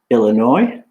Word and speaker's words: Illinois: 2 American states, which we pronounce with the silent S, Illinois and Arkansas.